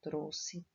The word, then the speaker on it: trouxe: Trouxe. O X aqui tem o som de SS. Eu coloco o X, porém eu leio como se fosse dois S.